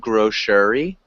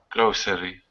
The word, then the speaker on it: grocery: thing grocery instead of grocery it's just grocery grocery close so that middle e is silent so it sounds like grow and then tree grocery nice and so